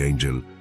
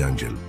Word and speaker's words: Angel: piloto estadounidense llamado Jimmy Angel surcaba los cielos del sur de Venezuela. Jimmy no buscaba ángeles ni santos y su apellido se pronunciaba en inglés, no en español buscaba oro.